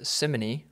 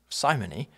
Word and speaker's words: simony: opportunity to talk about a word that can be pronounced two different ways, Simony or Simony.